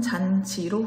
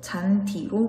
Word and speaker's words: 잔디: 예를 들어 잔디와 같은 단어는 하나의 형태소로 이루어진 단어이기 때문에이 발음은 잔지로 발음하지 않고 잔디로 발음하는 것이 맞습니다.